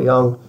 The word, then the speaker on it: Jung: and stuff like that I want to say Jung but that's not how you say it but it's Carl Young it is so important